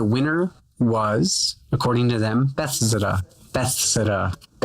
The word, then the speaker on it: Bethesda: 2017, and the winner was, according to them, Bethesda. Bethesda.